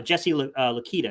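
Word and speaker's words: Jesse Luketa: could play both for you you know uh jesse lakita is how you say his name from penn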